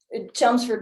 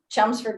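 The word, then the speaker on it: Chelmsford: Chumsford, Mass would be a quick What is it? Chumsford, Massachusetts. What do you spell that?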